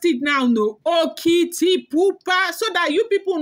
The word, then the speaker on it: Okitipupa: You heard the way I pronounced it now, no? Okitipupa.